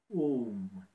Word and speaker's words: Om: Mais entre-temps, simplement pour diminuer le stress, diminuer la fatigue, diminuer l'angoisse, prononcez le son Om. Om, qui est composé de E, U et M, qui signifie les trois dimensions de l'espace, la longueur, la largeur et la hauteur.